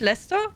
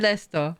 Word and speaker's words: Leicester: Again, red is pronounced Red Leicester. Red Leicester, not Leicester. Leicester, just Leicester.